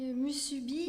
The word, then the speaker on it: Musubi: développée dans votre livre, j'ai retenu un restaurant, Musubi, Oui, je prononce bien, c'est oui.